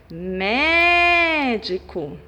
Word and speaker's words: médico: Proparoxítonas, quando a sílaba tônica é a antepenúltima. Exemplos: médico.